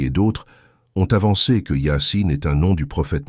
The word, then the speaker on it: Yâ-Sîn: Le début de Yassine est déjà une énigme. Deux lettres isolées, IS prononcé Yassin.